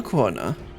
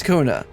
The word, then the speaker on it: Kona: Now that Val Wat and Val Kuana Kona, it's Kona. I know it's Kona. I always pronounced it kuana and then like halfway through the story they seem to switch to Kona.